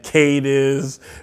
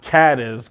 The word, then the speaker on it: Cadiz: Cadiz because I've heard it pronounces Cadiz and Kate is but it's pronounced Cadiz cat is Ohio for those of you who